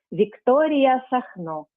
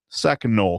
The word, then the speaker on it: Victoria Sacno: Victoria Sacno. Sacno, con l'accento sulla O, quindi?